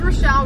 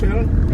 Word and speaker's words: Rochelle: If you're sophisticated, you'd know that CH goes shh.